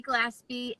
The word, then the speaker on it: Glaspie: Nikki Glaspie, and the bass player and the guitar player.